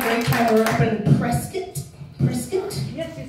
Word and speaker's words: Prescott: We're up in Prescott?